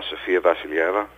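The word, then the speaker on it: Sofia Vassilieva: yeah um the very lovely and talented uh sfia vasila wow nice pronunciation there by the way uh it took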